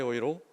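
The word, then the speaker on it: Euro: 이렇게 자연스럽게 말을 하는데 독일어로 표현할 때는 로라고 발음하지 않고 독일 사람들이 유로를 읽어내는 방식으로 아이이로 스바이 오이로 더트 오이로 이렇게 발음하고 있는 제 모습을 보았습니다 그러니까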